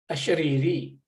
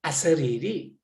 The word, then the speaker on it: ashariri: Sometimes we say asariri. Ashari, to be ashariri. See, shariri means shariram, Ishvara, that's shariram means this body. And shariram means without this body. Sometimes we pronounce sariri, sariri. It's not really correct, but sariri also, the